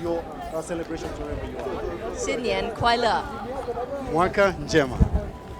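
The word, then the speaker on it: 新年快乐: Xinyan Kuaila. That's right. Xinyan Kuaila. My pronunciation first. I want to get it right. Xinyan Kuaila.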